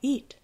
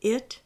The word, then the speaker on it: it: Al ver escrito el pronombre it, es común para un hispanohablante pronunciarlo eat. Pero eat y it no se pronuncian igual. Son dos sonidos distintos. El sonido I en it no existe en español y no hay cómo escribirlo con letras que representen sonidos en español.